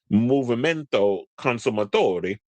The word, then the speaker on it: Movimento Consumatori: The lawsuit was brought by the consumer group Movimento Consumatori, you got to say it like you're Italian, which challenged the legality of Netflix's repeated subscription increases in Italy.